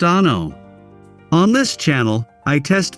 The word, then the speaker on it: ANO: Welcome to ANO Camera, pronounced ah-no.